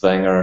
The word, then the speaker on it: Wanger: name's Wanger um in German it's pronounced wer so I called myself